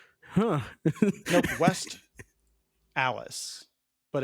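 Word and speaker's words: West Allis: Milwaukee suburb called called West Alice which is spelled the exact same way and the locals call it stallis which is nothing but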